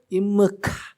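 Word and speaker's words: עמך: 히브리어로 임므카, 키읔과 히읗의 사이 발음 임므카, 임므카, 여호와께서 너와 함께 하시도다.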